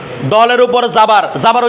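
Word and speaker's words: دو: আচ্ছা, তাহলে দলের উপর পিস থাকলে পিসের উচ্চারণ কি ও, তাহলে দল পিস দো, এটা দৌ না দো, ঠিক আছে, দৌ নয় দো, একটা ওকার একটা ঔকার, পার্থক্য আছে না, এটা দো, ঠিক আছে।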